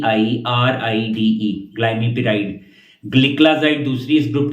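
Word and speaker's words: Glimepiride: जो अंदर दवाई का नाम है वो होगा ग्लाइम पराइड के स्पेलिंग है जी एल आई एम आई पी आई आर आई डीई ग्लाइम पराइड ग्लिकलाज इड दूसरी इस ग्रुप की दवाई है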